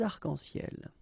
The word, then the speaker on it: arcs-en-ciel: Okay, you can see that as usual we don't really pronounce this final S, so phonetically it's almost the same, but then we've got this liaison between the two, des arcs-en-ciel.